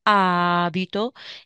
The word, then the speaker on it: abito: Io abito abito abiti la a e la sillaba lunga abito io abito a Milano